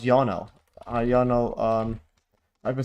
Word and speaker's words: Ionel: Oh, his name is actually pronounced Yono.